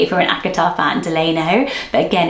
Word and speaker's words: Delano: So I would say Delano, but it also comes up as Delano, and it's French, and it means a really cool meaning.